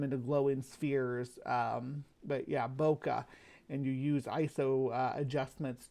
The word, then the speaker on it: bokeh: You can use it to make a phenomenal, beautiful effect that's popular in Christmas cards and stuff called bokeh, I believe that's how you pronounce it, BOKA.